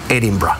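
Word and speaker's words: Edinburgh: y los escoceses con su acento particular lo pronuncian como Edinburg así se pronuncia edimburgo en escocés Bueno vamos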